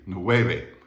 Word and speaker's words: nueve: wavy is pronounced but that v in the middle is not like an english v it's kind of like a b without your lips closing it's that kind of